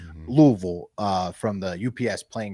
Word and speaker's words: Louisville: Uh way more unfortunately uh passed away in the Louisville uh Louisville.